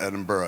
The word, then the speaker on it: Edinburgh: And I was like, well, they pronounce it Edinburgh. And he's like, that's fucking dumb. And I was like, why? And he goes, because we don't pronounce Pittsburgh, Pittsburgh.